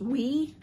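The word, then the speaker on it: OUAI: two that i got so i wish there were different choices some people get some fabulous perfume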